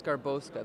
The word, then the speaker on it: Garbowska: are at the Toronto ComicCon here with garbosa that is how you pronounce it right yep that's actually exactly how